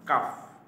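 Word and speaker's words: ق: কাফ কাফ কাফ এটা পাতলা হবে আরেকটা আছে কিন্তু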